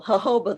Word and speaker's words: jojoba: removed eventually um okay with the emphasis on the full first syllable jojoba the word came directly